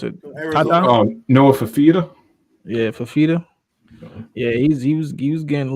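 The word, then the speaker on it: Fifita: I don't want to mispronounce it. Noah Fafita? Yeah, Fafita.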